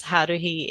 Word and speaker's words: Haruhi: So also known as Haruhi NZ. Is that how you say Well, it? that's how you say That's it. how you say it. Yeah. It's a weeb name. You gotta roll the R.